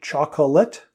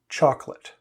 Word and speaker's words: chocolate: make is they say chocolate but native speakers pronounce this chocolate with only two syllables she always has a chocolate ice cream cone on